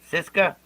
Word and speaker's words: Siska: no don uh don how do you say your last name cisca yeah you got it yeah you got it